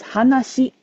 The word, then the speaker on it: 話: However, right now this is before they got married, so it's actually pronounced as hanashi.